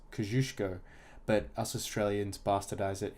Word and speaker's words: Kosciuszko: stroll at first apparently Mount Kosciuszko is actually pronounced kozuszko but us Australians bastardize it into Kosciusko I go to the chairlift at 2:30 and